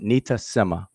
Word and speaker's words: nitasema: This word is pronounced nitasema. All right, it is a Kiswahili word.